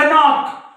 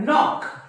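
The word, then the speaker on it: knock: चा उच्चार होत नाही तुम्ही असं म्हणतात का कनॉक कनॉक नाही नॉक नॉक नॉक म्हणजे या के चा उच्चार होत नाही मग या के चा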